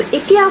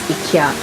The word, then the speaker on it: Ikea: Yeah, over here we pronounce Ikea as Ikea. I know some of you dears in the US pronounce as Ikea, but here we pronounce, most of us will pronounce as Ikea.